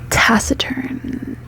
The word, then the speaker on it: taciturn: It's just interesting because it's like tacit, tacit, and then turn.